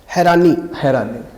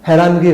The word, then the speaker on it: हैरानी: हैरानी ठीक, हैरत या हैरानी, हैरानगी गलत है। हैरानगी जो हमें होती है और मोस्टली हम कहते हैं कि वो हमें बहुत हैरानगी हो रही है, ये लफ्ज़ गलत है और जो सही लफ्ज़ है वो है हैरानी, यानी कि हैरानगी नहीं हैरानी।